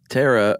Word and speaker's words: pterosaur: okay uh yeah these Tara or it starts with a P of course is silent P um that is from